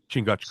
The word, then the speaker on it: Chingachgook: Chingachgook, Changu.